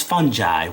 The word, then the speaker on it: fungi: Asst it's fungi with a soft G and I ordered trees